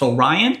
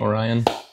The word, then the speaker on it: Orione: wrong but I believe we pronounce in America we just pronounce Orion Orion and uh I'm not